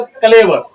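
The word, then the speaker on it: clever: कुछ लोग कैलिबर पढ़ते हैं, क्लीवर पढ़ते हैं। नहीं दोस्तों, इसको क्या पढ़ना है आपको? क्लेवर। क्या पढ़ना है? क्लेवर। क्लेवर का मतलब क्या होता है? चालाक होता है। ठीक है? तो इसका स्पेलिंग क्या है दोस्तों? सी एल ई वी ई आर क्लेवर।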